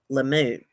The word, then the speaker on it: Lemieux: let me say I've wrote down how to pronounce this Kayla Lemieux lemoo transgender high school teacher in Canada been put